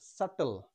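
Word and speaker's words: subtle: না next B এর পরে টি রয়েছে এর উচ্চারণ হবে সাপেল বি এর উচ্চারণ হবে না নেক্সট বি এর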